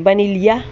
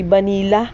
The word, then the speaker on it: vanilla: ko dini ng vanila sa amin sa marinduke ang tawag dini ay vanilla pero ang sabi ang tamang pronunciation daw ay vanila ah ay kahit ano